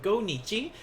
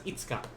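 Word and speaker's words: 五日: Now today, remember, today's the 5th, so instead of go nichi, today's actually going to be pronounced as itsuka. So itsuka. So questions like Hyo wa nanyobi desu ka, blah blah blah.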